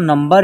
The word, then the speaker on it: नंबर: इस प्रकार भी लिखिएगा तो इसका उच्चारण नंबर ही होगा। जैसे न के ऊपर एक बिंदी है, यहाँ इसका उच्चारण आधा म के रूप में होगा, तो नम बर, नंबर।